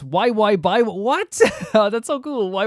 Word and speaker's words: YXY: She was part of the third subunit alongside uh Eaves Eve, Shu, and Yu called YXY, pronounced Y by What?